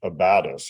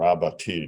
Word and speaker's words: abatis: And outside the forts, you had abatis or abattis, depending on how you want to pronounce it, but it's basically felled trees with the branches sharpened.